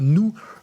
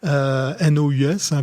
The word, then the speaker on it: Nous: Alors, je pense que ça se prononce autrement, un New Research Nus comme nous.